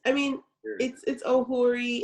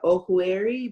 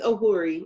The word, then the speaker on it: Ohueri: Ohueri. do I say that right? Because I always call you just Dr. Ohueri West Ohueri. Am I saying it correctly? Yeah, it's Ohueri, and my sister-in-law is on here too, and